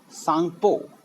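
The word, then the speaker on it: Tsangpo: एंड इसके अलावा इसको हम ये काफ़ी इम्पोर्टेंट तिब्बत में हम इसे सांगपो, टी साइलेंट रहता है मेनली, सांगपो।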